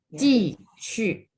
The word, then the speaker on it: 技术: Jadi XU itu bacanya shu. Ibu boleh lihat apa mulut saya ya. Ji shu.